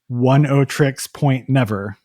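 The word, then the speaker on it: Oneohtrix Point Never: Bonnie Prince Billy or 10 tricks point never which doesn't doesn't really look like it's spelled Daniel Latitin who you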